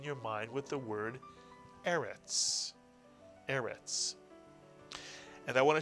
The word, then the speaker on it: Eretz: Please remember that a word with two segols tends to be accented on the first syllable. So this is not Eretz, but Eretz, Mitsuyan.